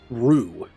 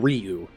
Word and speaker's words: Ryu: then it was like well it's actually it should be pronounced rue not ryu then there's the third